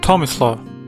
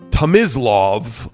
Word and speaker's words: Tomislav: Welcome to your first session of pronouncing Croatian names. Today we're discussing the name Tomislav. Here's an example how to not say it. Tomislav, or Tomislav, it's at T-O-M-I-S-L-A-V.